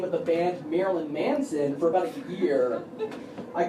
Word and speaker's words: Marilyn Manson: than music fans give you an example I mispronounced the name of the band Marilyn Manson for about a year I called it Meryl and Manson that's a mere vaudeville act no one